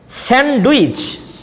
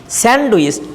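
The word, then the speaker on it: sandwich: স্যান্ডউইচ, generally we pronounce স্যান্ডউইচ, ডটাকে আমরা উচ্চারণ করি ড, স্যান্ড স্যান্ড স্যান্ডউইচ স্যান্ডউইচ, ডটা শোনা যায়। whenever a native speaker pronounce this word, এই ডিটাকে তারা উচ্চারণ করে না।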